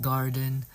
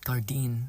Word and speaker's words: Gardein: from my indoor hydroponic garden. Brought to you by Gardein. I call it Gardein, but Sarah says it's just pronounced as garden with a Y instead of a E.